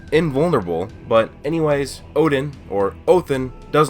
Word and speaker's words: Odin: So to talk about Valhalla, the first I will need to talk about Odin, or properly pronounced Othin.